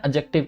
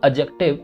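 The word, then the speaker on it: adjective: तो जितने भी कंपैरेटिव फॉर्म होते हैं एडजेक्टिव के, अगर आपने देखा हो तो एडजेक्टिव, इसको एडजेक्टिव बोलते हैं, डी में साइलेंट, एडजेक्टिव नहीं होता, ठीक है।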